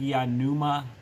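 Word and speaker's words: pneuma: The AP may stand for a numa. Numa with a silent P.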